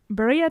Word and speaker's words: birria: Birria tacos. I'm probably going to not be able to pronounce it correctly the entire time. You're supposed to roll the R.